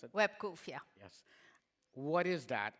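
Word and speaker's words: WebQoof: Is that how I pronounce it? WebCoof, yeah.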